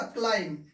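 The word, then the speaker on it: climb: ये उच्चारण होगा क्लाइम। क्या उच्चारण होगा?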